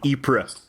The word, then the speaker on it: Ypres: you know punching nazis in ipra wait it was april world war one or two i forget but we canadians it was it's spelled ypres it's a it's a